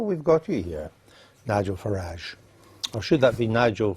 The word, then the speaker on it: Farage: of French fascists Nigel farage and Vladimir Putin well uh I'm glad he takes the uh the English pronunciation of farage rather than the rather py foreign sounding one that he seems to prefer I think that's a